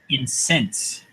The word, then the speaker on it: incense: It's spelled the same way as an aromatic substance you burn, but with a different stress. Adam. Incense.